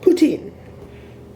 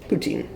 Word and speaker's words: poutine: Most of the people I know pronounce it poutine, so I'm sticking with that.